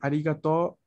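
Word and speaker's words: ありがとう: Cuando agradecemos, tenemos el arigato. Arigato. Con la O larga, ahora ya sabemos que esta es una O larga.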